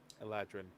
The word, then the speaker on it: Eladrin: Eladrin. How do you Best- spell that? Like Aladdin, but Aladrin.